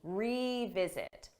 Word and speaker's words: revisit: again visit this again but for pronunciation that re is a strong sound e you hear that e revisit revisit let's revisit this